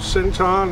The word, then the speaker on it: Cinoton: by a company called sinon it's if you pronounce it that way it's c i n t o n um and I'm obviously